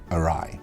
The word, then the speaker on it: awry: like oh all right you don't pronounce the W or I foe foe